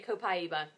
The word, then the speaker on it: copaiba: people say Copa and some people say copaiba I usually say Copa can I hold say